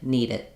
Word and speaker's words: need it: need it need it so it is basically the same as a d here I need it need it but I might not have a a big stopping of the air need it I don't need a strong D just link it together like you would for a D in the middle like